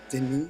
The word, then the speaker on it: Denis: Denis is spelled Denis for those of you that don't know. There it is. Denis, the S is actually not there, but silent. It's French, I believe.